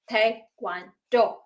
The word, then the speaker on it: Taekwondo: So, T-A-E, people call it Tae or Tai, and then the second one, Kwon, K-W-O-N, people call it Kwon or Kwon. So the last one is Do. So you combine 3 syllables, it becomes Taekwondo.